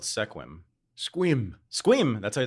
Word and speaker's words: Sequim: was Indian I didn't know it's quim yeah squib it looks like Sequim well anyway well then no you would a hundred out of a hundred would pronounce its sequel or sequin yeah or Sequim or something until they found